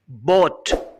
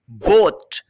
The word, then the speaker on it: bought: बाय खरीदना, बोट खरीदा, बोट खरीद चुका। BOUGHT को आप बोट भी प्रोनाउंस कर सकते हैं और बाट भी प्रोनाउंस कर सकते हैं, दोनों करेक्ट हैं।